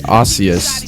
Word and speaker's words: osseous: so ocus is uh the root word of it is actually osseous is how it's pronounced um and osteous means